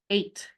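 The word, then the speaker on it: eight: And look at that crazy spelling. E-I-G-H-T. I do not hear any of those in that word. Do you hear the E, the I, the G, the H?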